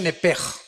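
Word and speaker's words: נפש: Digo, por favor, esta palabra alma, en el original hebreo, es la palabra nepesh. Apúntala, como suena nepesh, con SH. Se pronuncia nepej.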